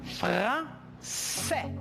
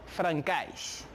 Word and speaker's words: français: Por lo tanto, je prononce français. Je répète, français. No francais.